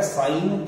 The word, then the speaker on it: sine: इसका पूरा नाम sin SINE है, बट लिखा जाएगा साइन theta, pronounced as साइन theta this.